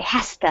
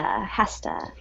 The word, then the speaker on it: has to: And we would pronounce that, we would say hasta, hasta. We pronounce our modals very quickly.